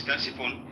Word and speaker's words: Ctesiphon: Okay, the city before Baghdad was called Ctesiphon, right? It was called Ctesiphon. It was the well, now you say it right. Okay, it was Ctesiphon.